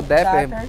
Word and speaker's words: Dapper: examente a de entrada Dapper ou depper pode pronunciar de um jeito e a Rebel e